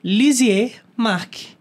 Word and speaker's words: Lisieux Marc: ter feito isso hoje eu estou aqui com lizier Mark o psicólogo convidado de hoje primeiro eu quero